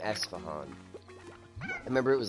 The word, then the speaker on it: Esfahan: I don't remember anything about it other than the name Esfahan. I remember it was like a capital city somewhere, and she kept pronouncing it Estefan.